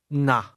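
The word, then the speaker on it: 呢: Um na the Cantonese word that means here or here you are is pronounced with a midfalling tone. Say here you are 10 American dollars. Nah.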